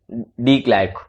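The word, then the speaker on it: de Klerk: डी क्लैर्क, डी क्लैर्क, ये थाबो इम्बैकी।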